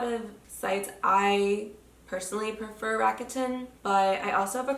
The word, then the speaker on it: Rakuten: The only site that I really use for this is I always say this wrong. I always say Rebukin, but it's Rakuten.